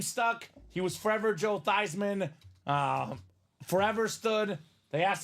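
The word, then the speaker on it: Theismann: mad I was not mad because it's actually pronounced tysman ty not tysan not these men we've been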